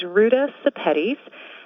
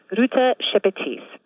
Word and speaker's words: Ruta Sepetys: And an easy way to remember how to pronounce my last name is that it rhymes with spaghettis.